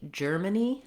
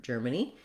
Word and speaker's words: Germany: Finally, Germany, again, has first syllable stress, and it is just like the word germ. Letter G says the J sound.